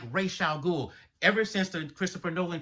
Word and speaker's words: Ra's al Ghul: And ever since that movie came out, everyone pronounced it wrong. I mean, they even made it a point in other mediums to say that it's commonly mispronounced. It's actually Ra's al Ghul.